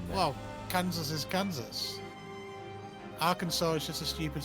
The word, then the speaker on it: Arkansas: Arkansas cannot be pronounced. What? Because Like it's it's actually technically- pronounced. Well, no, Well, it's actually because- technically pronounced Arkansas.